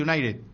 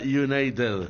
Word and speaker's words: United: Si vos decís Manchester United, no es la misma cosa que digas Manchester United. No, si vas a Inglaterra, lo recomendable es que pronuncies la T.